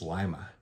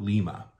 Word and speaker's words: Lima: after lime Connecticut so you can kind of see where you get that lime Lima word from the way we pronunciate